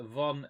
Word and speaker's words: von: sounded quite good uh von is pronounced fun and the whole thing